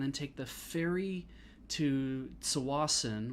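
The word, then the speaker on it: Tsawwassen: take the ferry to sawason which i pronounce with the t and nobody else does um and then we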